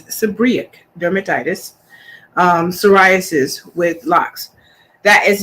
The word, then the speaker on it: seborrheic dermatitis: It's been pronounced by many as seborrheic dermatitis, but it's seborrheic dermatitis, psoriasis with locks.